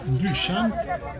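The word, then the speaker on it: Dušan: Bien entendu, en bande de foule, on va pas s'en empêcher, n'est-ce pas, Duchan, parce que ça se prononce Duchan.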